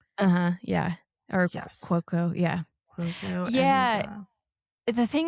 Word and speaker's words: Cuoco: Cuoco, yeah.